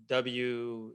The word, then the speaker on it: Weberhaus: Weber House, it's Weberhaus, house spelled like German style.